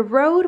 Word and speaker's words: Rode: It's the Rode microphone or Rod microphone, baby? How do you pronounce it? Rode microphone.